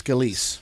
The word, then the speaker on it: Scalise: good shot okay so Steve Kiska skill sir pronunciation Scalia still Ross Scalise Scalise imagination guides Steve Scalise came out helpful